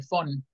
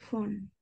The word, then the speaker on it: von: Se pronuncia con la V, suena como F, fon. Von.